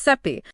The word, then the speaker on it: Sappe: It's created by David Sappe. Pronounce seep. Pronounce seep.